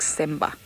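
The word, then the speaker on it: Tsemba: all voted on semba but it's t-s-e-m-b-a sort of a silent t if you like simba yeah well done well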